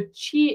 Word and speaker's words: qi: The way I personally explain is to say the qi is the life energy. So you spell it Q-I, and the life energy,